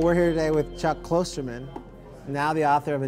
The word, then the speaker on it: Klosterman: It looks like Klosterman. There's no umlaut. There's not two O's. Right. And I don't really care that much, I guess. Yeah. I suppose it seems crazy to me to complain about the mispronunciation of your name when there's no logical reason to pronounce it any other way.